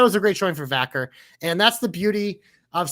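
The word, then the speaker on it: Vaquer: Vacker, yes. I couldn't remember if it was Vacker or Vackery.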